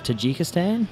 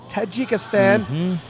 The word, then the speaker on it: Tajikistan: And I looked up the pronunciation, and it's Tajikistan. Thank you, sir. Tajikistan.